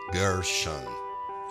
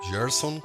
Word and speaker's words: Gerson: Sometimes English speakers cannot pronounce my name in the Brazilian way, so to make it easier, my name with the English accent can be expressed like this: Gershon. Gerson comes from the Hebrew name Gershon.